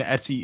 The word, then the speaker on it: etc: The Etsy folder, short for etc. And Etsy is the common way to pronounce this.